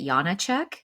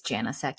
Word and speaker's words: Janacek: And if I was over there, they would pronounce it Janacek, but the American way is Janasek.